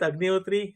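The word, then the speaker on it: Agnihotri: for granted now but my name is agot and I have have been in the identity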